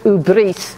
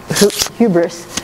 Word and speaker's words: hubris: that's my uh i i will pronounce the word as as murray gilman told me i should ubrice instead of hubris but uh the to